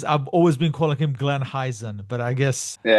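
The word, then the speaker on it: Glenn Hysén: I was I've always been calling him Glenn Heisen, but I guess Yeah. In Sweden, yeah, you can say Glenn Heisen. In Sweden, it's Glenn Hussein. Glenn Hussein.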